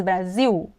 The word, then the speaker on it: Brasil: Agora nesses exemplos, você vai ver que o L está em final de sílabas. O nome do nosso país, Brasil.